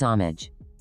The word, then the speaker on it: homage: Kraisanian says homage. I don't know. Because they're girls. Five down. Geese make these noise. Honk. Honks. Plural. Oh, homage. Krazanian says the H is silent.